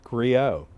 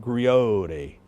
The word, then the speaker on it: Griot: Griot. Griot. Griot. The T is silent. Yes, it goes back to our French heritage.